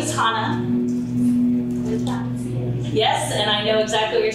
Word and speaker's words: Hannah: my name is Hana yes and I know exactly what you're talking about that CH sound that's how you pronounce my name so you know get